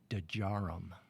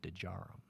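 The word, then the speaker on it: Djarum: of India uh called dejaram I don't know if you've ever heard of d-j-a-r-u-m dejaro the day is not silent neither is the J the Jason you got to pronounce it but uh we went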